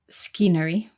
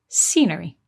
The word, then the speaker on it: scenery: n r y but the C is silent at the beginning so we don't say skery we say scenery good and because of